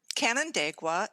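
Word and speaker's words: Canandaigua: in new york canada how how do you pronounce it canon dagua and i believe it's seneca indian um native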